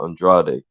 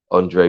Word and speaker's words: Andrade: million euros for Andrade which is how I'm hearing is how you actually pronounce it Andrade Andre whichever way you want to say it um and then